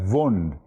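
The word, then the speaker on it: Wundt: the spellings too much it's written वंट pronounce S वंड एंड ही वाज ए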